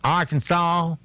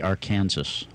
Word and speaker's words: Arkansas: on the books that requires people to pronounce the name of the state correctly I guess that would be Arkansas it would not be Arkansas it's against the law